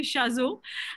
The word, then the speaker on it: Chazot: surname happens to be Shazo, and I know everybody carefully navigates around it because it's difficult to pronounce. So it's just my husband's is French, and therefore the T is silent, but otherwise it doesn't really matter.